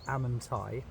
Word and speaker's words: Amenti: your Ascension Journey the halls of amenti pronounced amanai are a vast Cosmic